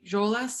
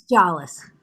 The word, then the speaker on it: Joles: name correctly is joles is that right i hope i've got that right it's jealous jealous thank you um and